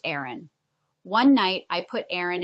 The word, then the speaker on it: Aryn: I spell her name Aryn, pronounced Aaron.